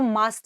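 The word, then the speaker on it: mast cell: allergic reaction of द मस्ट सेल है ना ये मस्ट नहीं है बच्चा ये सॉरी मस्त नहीं है बहुत सारे बच्चे इसे मस्त प्रोनाउंस करते हैं इट्स अ मस् सेल हालांकि ये मस्त रहते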